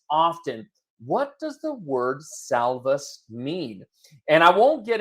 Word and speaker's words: Salvus: what it means it's it's a Latin word and in the Latin it's actually pronounced salvus which means safe and